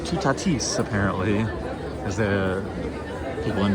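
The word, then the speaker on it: Toutatis: Of course, I'm going to head over to Tutatus. Actually, it's pronounced Tutatis apparently cuz the people in the uh guest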